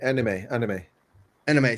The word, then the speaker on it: Anemi: So I'm going to mispronounce his name. Anemi, A-N-E-M-I. No, her. Anime.